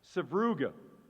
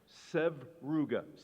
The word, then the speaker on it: sevruga: Sabruga. Sabruga has the strongest flavor of all the sturgeon eggs. This is a Russian word. Sabruga. Sabruga. Say it again. Sabruga. Sevruga.